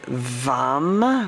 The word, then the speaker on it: vam: one syllable Sanskrit um Mantra is vam with a V and it's a medium tone M to enliven to